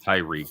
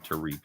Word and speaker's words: Tariq: Not Tyreek, but Tariq, like the Arabian, Middle Eastern spelling or whatever.